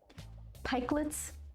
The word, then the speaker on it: pikelet: Pikelets. Am I saying it right? Pike, long I? Or pikelets? How many syllables does that word have? Pikelets.